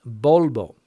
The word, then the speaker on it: Volvo: and that's one word Volvo with two v's bolbo and it can be